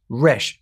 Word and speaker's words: resh: In Egypt, letter R was a human head in profile, facing left, and pronounced resh.